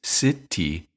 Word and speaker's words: city: We do the same thing with city. Phonetically, it's city, but again, the T is between two vowels, I and E, and the syllable T is unstressed, so we say city, city, city.